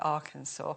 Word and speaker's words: Arkansas: and this is spelt Arkansas, but they call it Arkansas.